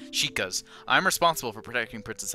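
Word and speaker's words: Sheikah: am impa of the shoks or the Shas sorry sorry sorry I I used to pronounce it shok for some reason sheas I'm responsible for protecting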